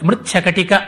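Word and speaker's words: ಮೃಚ್ಛಕಟಿಕ: ಬಗ್ಗೆ ನೋಡೋಣ ಮೃಚ್ಛ ಕಟಿಕ ತುಂಬಾ ಜನ ಮೃಚ್ಛ ಕಟಿಕ ಅಂತಲೇ ಅದನ್ನು ಉಚ್ಚಾರ ಮಾಡುತ್ತಾರೆ ಹೇಳುವಾಗ ಮೃತ್ ಶಕಟಿಕ ಅನ್ನುವುದು ಸ್ಪುಟವಾಗುತ್ತೆ ಮೃಚ್ಚ ಕಟಿಕ ಅಂತ ಆಗ್ಬಿಡುತ್ತೆ ಮೃಚ್ಛ ಕಟಿಕ ಅಂತ ಹೇಳಬೇಕು ಅದು ಮೃಚ್ಛ ಕಟಿಕ ಅಂತ ಆಗುತ್ತೆ ಕ ಮೇಲೆ ಅವಧಾರಣೆ ಬೀಳುತ್ತೆ ಶ ಮೇಲೆ ಬೀಳೋದು ಕಡಿಮೆ ಹಾಗಾಗಿ ಏನೋ ಕಟಿಕಕ್ಕೂ ಮೃಚ್ಚಕ್ಕೂ ಏನು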